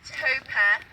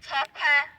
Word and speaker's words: Tope: Your name is not Tope. It's Tope.